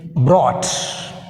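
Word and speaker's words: brought: Next word is బ్రాట్. ఇన్ బ్రాట్ word which is silent? GH is silent.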